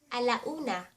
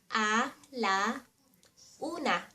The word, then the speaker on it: alauna: To say 1 am, Alauna A la una Alauna 2 am, Alas dos Alas dos To say 3 am, Alas tres A las tres Alas tres Alas kwatro, 4 am.